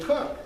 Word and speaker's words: Koch: So I said to her, well, you know, I know the guy this is named after, and he pronounces it Cook.